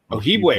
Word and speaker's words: Ojibwe: Ojibwe. Oh, thank you. Now I know how to pronounce that.